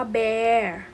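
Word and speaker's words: bear: คำ พิเศษ นะ คะ ไม่ ได้ อ่าน ว่า เบียร์ จะ อ่าน ว่า แบ มา ที่ กู บอก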